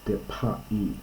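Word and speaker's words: δέπαϊ: So it's depai, and it's got a diaeresis, so it's two syllables here.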